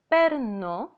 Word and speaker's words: παίρνω: Also, the verb παίρνω is stressed in the second from the end syllable, so it belongs to the first conjugation verbs, while the verb περνώ is stressed in the last syllable.